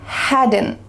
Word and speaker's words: hadn't: Had, hadn't. Had, hadn't. My cat had played. My cat hadn't played. My cat hadn't played. Which rule is this? It's that first one. There's a little schwa sound added.